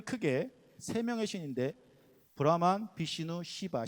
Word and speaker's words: 시바: 힌두교는 크게 3명의 신인데 브라만, 비시누, 시바. 시바는 발음을 조심하셔야 됩니다. 발음을 연하게 하셔야지 세게 하시면 이상해집니다.